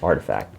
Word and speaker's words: RTFKT: brand known as artifact rtfkt pronounced as artifact for the longest I